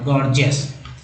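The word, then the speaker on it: gorgeous: गॉर्जियस में देखिए, गॉर्जियस में दो गो जी है, दोनों जी का इस्तेमाल दो उच्चारण होता है, जैसे पहला जी ग, दूसरा जी ज के रूप में हो जाएगा, गॉर्जियस।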